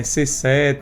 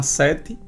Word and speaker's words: SE7: A gente escuta muito aí, muita galera falando eh C7, S7 e vários outros nomes, mas é simples, certo? O CT da gente se chama Sete Sete volo de praia, sete do numeral mesmo, do número sete e sete de primeiro